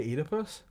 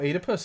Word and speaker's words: Oedipus: No, Oedipus is his name. No, it's Oedipus. It's not piss. It's P-U-S.